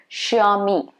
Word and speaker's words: Xiaomi: common again in india it's supposed to be xiaomi xiaomi okay me so sure me it's what you're supposed to be pronouncing it as there are a couple more